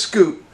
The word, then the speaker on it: Scoot: Or Scott, did I say the first time? Anyway, it's Scoot. And the reason I bring it up, he's actually the main character. Scoot McNairy is the traveling salesman who, you know,